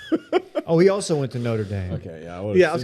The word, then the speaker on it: Notre Dame: why golox junior went it's pronounced notre dame did his dad not